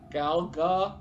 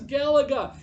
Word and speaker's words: Galaga: talking about and going how do you say that gal gah you know like he came up with all these different ways of saying i'm like it's galaga i remember yelling on